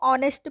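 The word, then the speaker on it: honest: इसको हम दोस्तों ऑनेस्ट पढ़ते, ओ का उच्चारण होता है, इसमें एच से स्पेलिंग चालू होती है।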